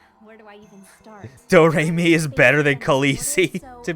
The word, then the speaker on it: Doremi: name is doremi midorikawa it's spelled like notes and pronounced doremi it's one of those